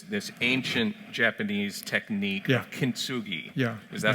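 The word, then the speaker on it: kintsugi: the book this this ancient Japanese technique yeah kinsugi yeah is that how I pronounce it yes tell us about this artistic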